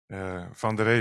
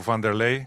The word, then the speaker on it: Van der Rey: Van der Rey very often in Brazil turns into Vanderlei, so that makes it easier for for many people in Brazil to say my name.